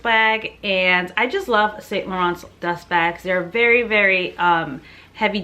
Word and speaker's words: Saint Laurent: There's a video on how to pronounce Saint Laurent because apparently it's not Saint Laurent, it's Saint Laurent or something like that.